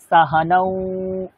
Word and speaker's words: সহনৌ: সাহা নৌ, এই নৌ এটাকে আপনাকে দীর্ঘ উচ্চারণ শোনাতে হবে। শুধু আপনি নিজে কিন্তু আমরা বুঝতে পারলাম না, এমনটা হবে না। আপনি উচ্চারণ করবেন এবং আমরা সেটা বুঝতেও পারবো, হ্যাঁ এখানে দীর্ঘ হলো। এইভাবে উচ্চারণ করতে হবে।